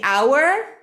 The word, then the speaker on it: hour: stage our house our house okay the hour two hours so our mother our house it should be pronounced the same exactly the same okay new